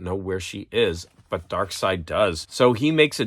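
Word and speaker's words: Darkseid: mean it's to me it's always been spelled like dark seed but I believe his name is dark side he needs to find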